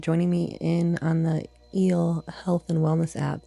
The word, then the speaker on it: EEL: me in on the EEL Health and Wellness app. That's E at symbol L pronounced eel like ocean, like in the ocean.